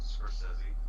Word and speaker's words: Scorsese: Scorsese.